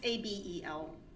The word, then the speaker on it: Abel: It's Abel, but I believe it's pronounced a different way. It's Abel.